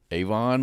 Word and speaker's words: Avon: I said it slowly because I want to make sure I was pronouncing the town is Avon, Massachusetts.